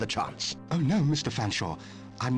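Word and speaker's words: Featherstonehaugh: name it's perfectly simple f silent e a silent t silent h silent e silent r s silent t silent o n swap the n and the s silent e h a u g h fan shaw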